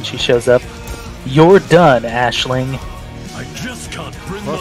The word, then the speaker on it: Aisling: Whoop, I got Chimeria and Aisling. Yep, Chimeria, and actually it's pronounced Ashling for some reason. That's dumb. Like, June will occasionally say it when she shows up. You're done, Ashling.